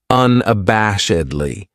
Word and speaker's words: unabashedly: This adverb has five syllables and the stress is on that third syllable that bash unabashedly. That second syllable has that schwa, that uh sound unabashedly.